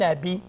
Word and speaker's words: habit: Et quand je dis C-E-T, c'est que le mot habit a un H qu'on appelle un H muet. Muet veut dire qu'il n'est pas prononcé. Et quand j'emploie cet habit, le A est prononcé, mais le H ne l'est pas.